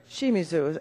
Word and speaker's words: Shimizu: Shimizu, am I saying it correctly?